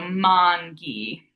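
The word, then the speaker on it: manghi: So mangi, tall A. So we have that GH here, and that makes it that hard G sound, mangi, mangoes.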